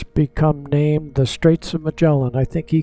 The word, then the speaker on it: Magellan: there and then um mellan or Mullan however you like to pronounce it I used to I learned it was mellin but I've heard a few people call it Mullan and uh he was